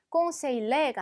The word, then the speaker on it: conseiller: L이 두 번 들어가긴 했는데 ELL 같은 경우는 L 발음이 나지 않는다고 했어요. 그래서 발음이 conseiller가 아니라 conseiller처럼 발음하시면 됩니다. 자, 옆에 거 가볼게요.